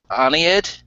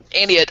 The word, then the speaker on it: Aeneid: It's the, I'm going to make sure I pronounce it right. The new Aeneid, is that right? I need it. Cycle. Aeneid.